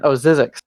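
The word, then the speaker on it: Zzyzx: There's the Baker Airport and Zizix. Thank you, Zizix Road.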